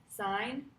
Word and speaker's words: sine: is called sine and we spell sine as s i n e but we abbreviate it to s i n it's pronounced sign and most of the